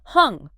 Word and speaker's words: Hong: As you inhale naturally, you mentally hear or feel the sound hung rhymes with song. And as you exhale naturally, you mentally hear or feel the sound so like so. Hong.